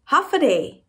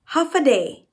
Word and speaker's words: Håfa adai: Hafaday. Say it again. Hafaday.